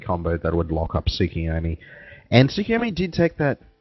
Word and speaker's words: Tsukuyomi: I'm not really an anime guy, so I think it's a Tsukuyomi, or I don't know, how do you say it? Flamewells, you're an anime guy? Tsukuyomi.